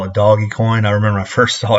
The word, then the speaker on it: Dogecoin: back in like 2015 i thought it didn't mean doggy coin but it's everybody pronounces it dogecoin so i don't say doggy coin but um i found